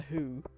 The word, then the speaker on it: Hu: who I'm talking about the new Mongolian who which is spelled Hu okay um not h no who um like I would